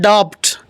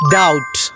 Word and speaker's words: doubt: It is not doubt, it is doubt.